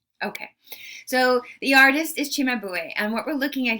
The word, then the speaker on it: Cimabue: uh seema no it's chimabue in italian the c is pronounced like a ch and the title of